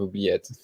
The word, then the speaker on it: oubliette: We'll just let the judges do the StreamYard link, and then just Steven, good job on the pronunciation of oubliette.